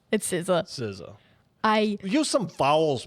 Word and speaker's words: SZA: But, I think it's going to be The Weeknd and How do you say SZA or is it SZA, yep, SZA.